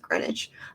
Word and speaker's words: Greenwich: way that you work it is spelled greenwich why is this pronounced greenwich uh the prince the